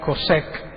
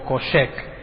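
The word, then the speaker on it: חֹשֶׁךְ: Y la palabra oscuridad es más interesante porque se pronuncia kosek o koshek y se traduce como ignorancia, miseria, muerte, destrucción, oscuridad.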